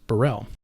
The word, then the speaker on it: BXRRELL: Now, yes, I know there is an X in the name. However, as far as I understand it, the band name is pronounced Burrell.